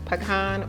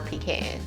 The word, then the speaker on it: pecan: a minute real quick is it pronounced pecan or pecan both pronunciations are accepted okay yeah but caramel